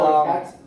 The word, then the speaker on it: Shoichet: It's pronounced Shoichet.